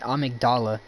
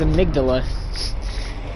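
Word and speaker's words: amygdala: the poor bastard um weird that you're pronouncing it amigdala when when uh that word is amydala but all right nightmare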